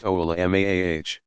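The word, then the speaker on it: علماء: An alim, pronounced a'lim, commonly used singular of ulama, pronounced oulamaah, is an individual who has done extensive study of the Quran, tafsir, exegetical commentary, and hadith, for starters.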